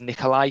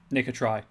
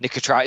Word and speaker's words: Nicotry: I'm just going to point it at him, at his throat, and go, did Nikolai send you? Nicotry, with a T. Nicotry.